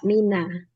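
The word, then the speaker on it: مِنَ: Karena setelahnya hurufnya berharokat sukun, untuk memudahkan membacanya, maka min menjadi fathah, mina.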